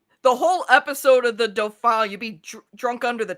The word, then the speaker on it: Dauphin: I think that video I did, people are like, "Oh, that's how you pronounce the episode title." It's like, yeah, it's the Dauphin.